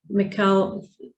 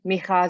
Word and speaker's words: Michał: So the firm of engineers that was appointed was ZAI, and it was Zakrzewski was his name, Michał Zakrzewski, and it's Janusz Warinkovich. is the pronunciation.